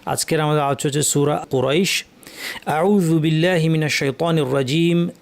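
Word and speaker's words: قريش: লিইলাফি কুরাইশ, কফ এবং র দুটাই ভারী, ভারী, আক কু কু আক কু কু কু র র র কুরাইশ, কুরাইশ। শেষের শিনটাকে সঠিকভাবে জিহ্বা মাঝখান থেকে উচ্চারণ করতে হবে, লিইলাফি কুরাইশ।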